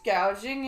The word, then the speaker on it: gouging: B on proud price gauging on food did did she mean price gouging and she said it as gauging price gauging she's so